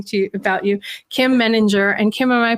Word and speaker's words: Meninger: somebody starts talking to you about you kim meninger and kim am i pronouncing your last name right i didn't even